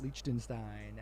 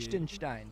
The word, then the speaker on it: Liechtenstein: Lima and in Liechtenstein, and I hope Ben thinks I pronounced that correctly. It sounded like you did. Liechtenstein.